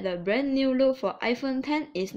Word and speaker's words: iPhone X: review a brand new iPhone model is called iPhone 1013 in the iPhone thing is written as X most of the people will pronounce it as iPhone X but it is actually called the iPhone 10